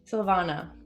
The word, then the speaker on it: Sylvana: Is that how it's pronounced? Sylvania? Yep. Sylvana. Sylvana.